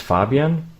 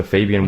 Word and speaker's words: Fabian: So since it's a German name, it's Fabian. But honestly, I really don't mind how it's pronounced, since it's German and there is no English version of it. So Fabian would also be totally fine.